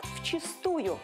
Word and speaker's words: вчистую: полностью но в чистую старинных словарях это слово встречается с ударением на первый слог но согласно современным нормам возможен один вариант в чистую давайте запомним и не